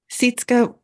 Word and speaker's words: Sytske: It's seat, like you're taking a seat. It's seat. Yep, that's right. Sytske.